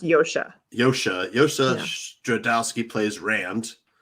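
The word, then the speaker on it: Josha: the the four kids are this guy josh joshua it's he's actually pronounced yoshi yoshi yoshi dradowski plays rand and then you've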